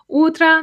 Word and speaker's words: утро: Утро means morning. The stress is on the first syllable, so утро.